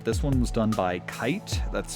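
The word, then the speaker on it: Kaight: This one was done by Kite. That's spelled K A I G H T.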